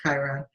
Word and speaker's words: Chiron: healing from the rough chyron angle Chiron is the wounded healer sometimes pronounced Kyra and that wounded healer